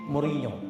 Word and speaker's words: Mourinho: Jose Mourinho. Salah kalau dipanggil Jose. Kenapa? Karena dia adalah orang Portugis. J tetap J. NH dibacanya Nye. Jose Mourinho.